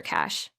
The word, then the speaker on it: cache: Think of it like cash in your wallet. It's faster than going to the bank every time, right? That's a perfect way to remember it. So, in a sentence, you might say, "You should clear your browser's cash." Let's all say it. Cash.